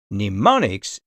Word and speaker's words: mnemonics: pneumonics that is right the letter M at the start of the word neonics is silent in know other words